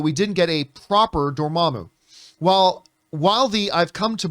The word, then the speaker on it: Dormammu: Beyond that, really there's a theory going on that Dormammu, or as some people pronounce it, Dormammu, might be behind the manipulation of Wanda.